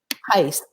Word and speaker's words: Tice: How do you pronounce his name? Lou, L-O-U. L-O-U. Tice, T-I-C-E.